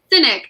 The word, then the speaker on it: Sinek: How do you say his last name? Sinek.